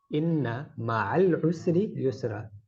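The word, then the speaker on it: إن مع العسر يسرا: But the correct way to say it, inna ma'al usri yusra.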